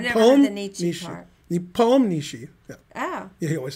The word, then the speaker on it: Nepomniachtchi: He drew Nepomniachtchi in 1 minute, and he drew somebody else in 1 minute.